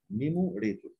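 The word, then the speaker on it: numerator: في عندنا نيموريتور، بص ده نيموريتور اليو بتنطق كانها ايه؟ نيموريتور، نيموريتور اللي هو البسط.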